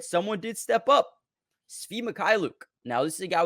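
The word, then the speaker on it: Svi Mykhailiuk: I don't have a lot of how do you pronounce his name? Svi Mikhailuk.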